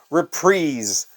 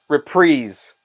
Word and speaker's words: Reprise: U.S he was on reprise records along with Joni Mitchell and Frank Sinatra and Chris Isaac and a bunch of others uh reprise records not reprise the guy who produced